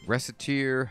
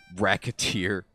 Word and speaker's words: Recettear: Recettear, ho. Recettear. Mispronounce it even slightly, and... Recettear. Racketeer.